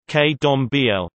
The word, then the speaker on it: Candomblé: Candomblé, Portuguese pronunciation, K-dom-b-l, dance in honor of the gods, is an